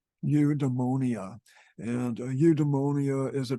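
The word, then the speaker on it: eudaimonia: for human behavior is udonia and I I checked to see how you actually pronounce this and it is from what I understand UD demonia and UD demonia is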